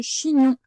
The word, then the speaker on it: chignon: Tu avais le ch, ch, le i tout simple, et gnon, comme à la fin de non, c'est pas comme à la fin de vigneron, c'est-à-dire qu'on a le on de vigneron. Gn plus on. Voilà pour le chignon.